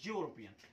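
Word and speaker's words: European: गलत हो जाएगा, क्योंकि जो इसका प्रोनाउंसिएशन आता है ना, ये आता है यूरोपियन।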